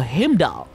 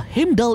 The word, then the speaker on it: Heimdall: Sosok tersebut bisa jadi adalah Dewa Heimdall. Nah, ada beberapa alasan terkait hal tersebut. Ini dimulai dari pelafalan dewa ini yakni Heim dan Dal. Pertama, Heim ini mirip dengan Hem.